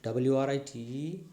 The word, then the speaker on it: write: in w r whereas w is silent w r i t e write w r a